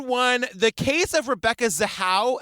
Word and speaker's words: Zahau: The Case of Rebecca zaha am I saying that right you are again we're gonna be saying this a lot according to the oxygen documentary yes you are saying it correctly you guys we're starting